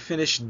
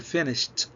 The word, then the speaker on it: finished: عايزك تنتبه هنا لقراءة كلمة finished. شوف بقول ما اقولش finished، لا بقول finished بعد الصوت اللي هو بعد الاس اتش الاي دي تنطق ت finished.